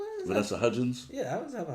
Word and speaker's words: Hudgens: people like Selena Gomez, um, Hilary Duff, Vanessa Hudson. Vanessa Hudgens. Yeah, I always have a hard time pronounce her last name.